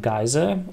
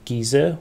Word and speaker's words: geyser: then we have scalding geyser or giza wherever you're from and how you want to pronounce it uh it's a one